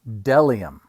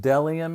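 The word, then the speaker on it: bdellium: b b is for delium we doubt anyone knows what delium is but it's the only word dumb enough to begin with a silent B I know pretty silly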